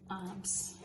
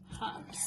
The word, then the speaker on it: herbs: Like you pronounced the H? And some people pronounce the H. Yeah, not here. Herbs. Herbs.